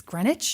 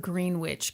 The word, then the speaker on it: Greenwich: Google it I mean I've never heard of green witch Connecticut I've heard of Greenwich Connecticut I'm pretty sure it's grenwich I think you're right